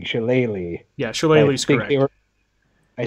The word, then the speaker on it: shillelagh: the accurate one she later is that right Shelly law is an incorrect pronunciation that a show did into it like